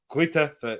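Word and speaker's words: Greuther Fürth: got we've got quite a few we've got grit effert fans and if you don't know who they are german german team gritter foot it's actually pronounced gritter for oh mainzy magnus sorry so yeah that's what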